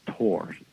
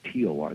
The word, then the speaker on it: Thor: Thor in German is pronounced Tor, like Tor. They don't pronounce the H.